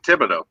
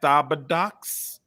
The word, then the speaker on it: Thibodeau: It's Thibodeau. Yes. Thibodeau. I know. Thibodeau. Yeah. Thibodeau. Yeah. The H is silent. There's a lot of shit that's silent. Yeah. Like the first time I showed that to somebody, they were like, Thabadox.